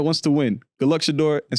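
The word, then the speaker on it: Shedeur: Therefore, it's pronounced Shadeur, right?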